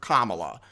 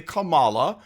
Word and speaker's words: Kamala: an Americanized version and some people call her Kamala well that's not the way that it is pronounced from the original that's the Americanized version some people say Kamala but I'm going to